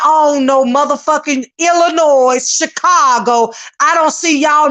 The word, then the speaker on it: Illinois: It is pronounced Illinois. The S is silent.